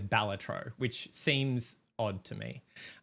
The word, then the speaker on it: Balatro: I would like to hear your pronunciation of that word. I think it's Balatro. Balatro? Josh, what would you say? I say Balatro as well.